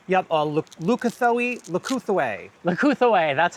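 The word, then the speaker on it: Leucothoe: Leucothue, that's how you say it.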